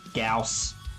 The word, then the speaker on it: gauss: necron warriors and their ghost weapons or gauss as some people pronounce it and i forgot that